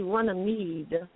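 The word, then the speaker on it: Runnymede: um runn runny me they spell it Ru NN y i m e d I believe but it's really runam which is right here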